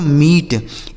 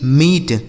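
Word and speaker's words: meet: तो M double E टी इसे पढ़ा जाता है दोस्तों मीट। M double E टी मीट।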